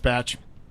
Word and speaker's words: Bach: Yeah, and spelled Bach, but pronounced Batch.